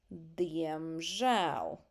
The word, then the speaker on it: diemžēl: Diemžēl. Diemžēl. Did you see where the stress goes on the second syllable which is uncommon in Latvia usually we put stress on the first syllable even like here nesaprotu